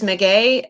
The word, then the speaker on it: Meguey: My name is Meguey, and it is amazing how often people cannot pronounce it.